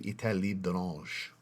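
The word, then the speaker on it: État Libre d'Orange: It's one of the few names I don't butcher, that I was taught years ago how to say it properly. Etat Libre d'Orange. Just rolls off the Libre d'Orange. D'Orange. Because I hear so many people say d'Orange.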